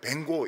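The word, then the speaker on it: Van Gogh: 또 어떤 사람이 이제 반고호, 영어 발음은 뱅고 이릅니다. 뱅고.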